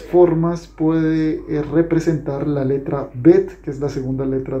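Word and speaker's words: ב: Vimos que la Bet tenía dos formas de pronunciación, tanto Bet, así como una B larga de burro, la B de burro. Y también podía sonar como una V, V, ¿sí ves? V, no B, sino V.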